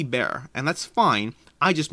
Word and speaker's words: Beer: about the fact that i just said beer b-e-e-r when it's really bare and that's fine i